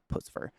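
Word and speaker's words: Puscifer: So in Pucifer or Pussyfur or however you want to pronounce it, I've heard it many times. I don't really care. It's Pucifer. When they first came out, it was just Maynard and his band.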